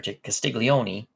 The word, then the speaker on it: Castiglione: was a third baseman castiglion or Castiglione that's the way you really should pronounce it that's the way they probably pronounce it in 49 maybe Andy